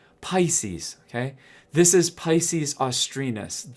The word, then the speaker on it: Pisces: constellation named pisces okay did i say pcs pisces pisces okay this is pisces